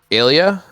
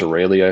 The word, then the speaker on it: Aurelia: It's Aurelia, I think. There's an R. Yeah, Aurelia. Aurelia. Aurelia. I always forget that there's an R in there.